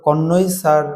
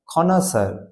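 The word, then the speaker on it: connoisseur: এটা তো কনই স্যার বা কষনইজার নয়। খনাসার কাকে বলে?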